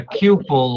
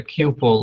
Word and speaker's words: Kupel: uh just one thing it's a couple like a pupil so I always have